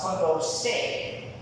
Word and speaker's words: Condorcet: It's also known as Condorcet method, that's how you pronounce it.